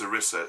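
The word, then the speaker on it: Cerise: she says uh um I think it's pronounced Sissa c e r i s e or S um that's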